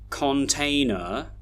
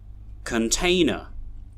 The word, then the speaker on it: container: We don't say container, glamorous, gorilla, forgetful. No. That's because we have this pattern of stressed and unstressed syllables. So here we can hear container, container, glamorous, glamorous, gorilla, gorilla, forgetful, forgetful.